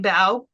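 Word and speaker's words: bough: do you call it Pine baow is that how you pronounce yes yes um so it's kind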